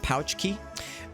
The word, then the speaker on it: Pulaski: I mean Chicago has or Illinois has cashmere Pulaski day which is kind of a holiday that was made to you know to get to gain the good graces of the Polish population and it's pronounced pouch key the funny thing about the Box Johnson is